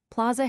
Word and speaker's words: plaza: Plaza has two flat A's.